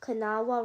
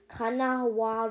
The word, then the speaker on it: Kanawha: And Charleston sits on the river called the Kanawha River, and there's also another river that Charleston stops by, and this river is called the Elk River.